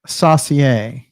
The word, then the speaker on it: Saussure: The Saussure is very interesting because it's saucer, but with an I before the E.